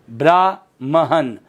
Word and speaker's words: ब्राह्मण: क्योंकि ब्राह्मण में देखो ब र आ की मात्रा ब्राह्मण, और ये है ब्राह्मण। म आधा ह पूरा, जबकि ह आधा और म पूरा होता है। शुद्ध शब्द क्या होता है? ब्राह्मण।